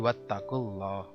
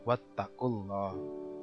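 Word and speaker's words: وَاتَّقُوا اللَّهَ: Karena diawali dengan doma, di awalnya adalah jadi Allah, maka disebut dengan lam tebal. Jadi wattaqullah, wattaqullah. Kalau ilah, wattaqillah tipis. Ini disebut dengan lam tebal, tafhim atau mufakham.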